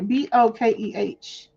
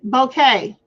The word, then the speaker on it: bokeh: B O K E H. Let's hear it. Bouquet. Bouquet. I call it bokeh, but it's apparently it's bouquet.